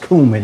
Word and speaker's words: cumin: It's pronounced cumin. Okay, a lot of y'all don't know about that.